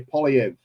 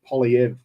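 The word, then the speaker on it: Poilievre: conservative leader get in his name is Pierre POV I think is how you pronounce it and he's a he's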